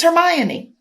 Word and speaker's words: Hermione: Harry Potter series thinking that girl's name was Hermione. Until you saw a movie? Yeah, I was like, oh shit. Or maybe I was talking to somebody, but I was like, oh shit. It's Hermione.